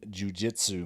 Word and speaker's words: jiu-jitsu: Anyways, just like in traditional Brazilian jiu-jitsu matches. Said it right that time, buddy. Well, I've been jiu-jitsu. Jiu-jitsu. Really too much emphasis on the first syllable, though.